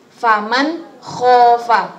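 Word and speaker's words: فَمَنْ خَافَ: tadi kita sebutkan bersama-sama, maka cara bacanya jelas, tidak boleh mendengung, tidak boleh dipanjangkan. Contohnya faman khofa, ada nun mati bertemu dengan kho. Jadi faman khofa, bukan faman khofa, tidak.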